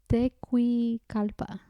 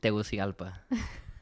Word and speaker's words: Tegucigalpa: I'm not sure that I'm going to pronounce this right. Tegucigalpa. Say it again? Tegucigalpa.